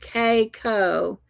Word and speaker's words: Keiko: Oh, Keiko is how you say it.